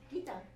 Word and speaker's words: Gita: Girl, I'm gonna need you to pronounce my name correctly. Gita. There you go. Gita. Do you hear her? Sometimes I swear I hear Gita. Yeah, Gita. Gita. That's a Filipino accent.